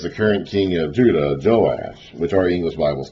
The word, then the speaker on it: Joash: So we call the northern king Jehoash with 3 syllables, and the southern king Joash with 2 syllables, but in the Hebrew, letters are the same.